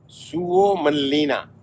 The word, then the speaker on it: Suomenlinna: सुओमनलिना, ये correct pronunciation है इसका, जिस आइलैंड पे हम आए थे हेलसिंकी से। फिनलैंड का ये पार्ट है सुओमनलिना, और हिस्ट्री में आपको बता चुका हूँ।